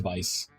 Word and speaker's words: Vies: Yeah, it is pronounced Vice. Like, and the thought was like to vie, right? And then I just put the S of Vice.